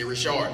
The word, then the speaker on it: Richard: Texans don't know how to say Rashard. It's spelled Richard, but it's Rashard.